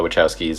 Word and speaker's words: Wachowski: The Wachowskis.